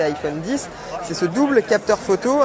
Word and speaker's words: iPhone X: autre nouveauté de cet iPhone X à prononcé iPhone 10 c'est ce double capteur